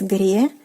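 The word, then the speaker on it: греческий: the language, which is Grečeski. Grečeski. So you can see that the sound, the consonant ts is changed into the consonant ch. So that is something that you have to remember.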